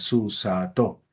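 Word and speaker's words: סוּסָתוֹ: Este diría el acento lo haríamos al final. Susato. Recuerda que normalmente lo hacemos al final a no de que yo lo diga o que aparezca algún signo que me haga entender que el signo que el acento lo debo hacer antes.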